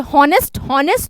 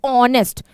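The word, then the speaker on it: honest: ऑनेस्ट वी से हॉनेस्ट, नो वी से ऑनेस्ट, H silent, H को बोलते हैं चुप, ठीक है।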